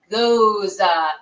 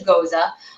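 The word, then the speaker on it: Gose: packaging opro is a goza Goa is how you hear people say go but it's actually goza I um I I've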